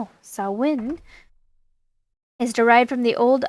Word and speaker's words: Samhain: Samhain, pronounced Samhain, Samhain, is derived from the